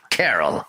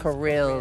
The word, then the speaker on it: Kirill: Carol, I'm gonna gut you next. I think it's pronounced Kirill, the enemy leader, not Carol.